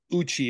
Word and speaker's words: Uchi: a business, and you have this website called Uchi, if I say it right, right? That's correct. Why that website and why that name? So Uchi in Japanese means in-group or inner circle.